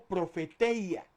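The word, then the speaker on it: προφητεία: Ahora, cuando hablamos de profecía, profecía viene de una palabra griega que se escribe o se podría pronunciar como profeteia.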